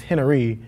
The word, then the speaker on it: Henery: It's not even spelled like Henry. It's Henery.